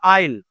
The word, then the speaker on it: aisle: After 3 years of courtship, John and Martha finally decided to walk down the A, which is aisle. दोनों का pronunciation is aisle.